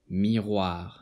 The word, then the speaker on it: miroir: in this word the OI is pronounced as WA. Loi. Bois. Miroir.